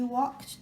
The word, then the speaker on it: walked: Then he walked to the cafe. Walked هو الماضي مال walk. L is silent.